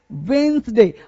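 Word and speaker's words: Wednesday: सही कैसे पढ़ेंगे, तो बोलना क्या है, देखो वेडनेसडे, डी होता है साइलेंट, डी क्या होता है, साइलेंट। तो ऐसे बोलना गलत, ऐसे बोलना मेरे दोस्त मेरे भाई क्या होगा, गलत होगा। तो बोलना क्या है, वेंसडे।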